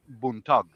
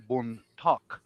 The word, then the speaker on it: buntag: to my family, and the real word way you say it is buntag, but I said something like buntak or buntak.